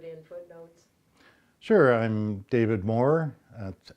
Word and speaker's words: More: Maybe just say your name and spell it for Dave sense when he needs to put in footnotes. Sure.